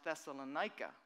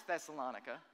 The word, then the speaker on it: Thessalonica: Now, Hannah and I argued that she said it's pronounced Thessalonica, but she listens to too many American preachers. I know it's Thessalonica because I'm sure I remember Jerry Newberry singing the old gospel song, I played my harmonica in Thessalonica.